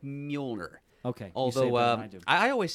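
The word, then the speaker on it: Mjölnir: letters page in which Walt Simson himself said that he pronounced it muer. Molir. Okay. But there's Muolner is certainly there there's some justification for pronouncing it that way too. Or what? Miumu I guess. Yeah. Muh if you're Cat Denning. Sure. Yeah. Yeah. Or Majoner if you're Jamie.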